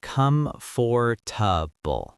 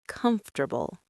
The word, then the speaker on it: comfortable: Many learners say come for But in natural speech, it is comfortable.